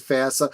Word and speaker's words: FASA: We'll have to talk about Phasia. I think the fans usually pronounce it FASA, but it is an acronym, so it's really open.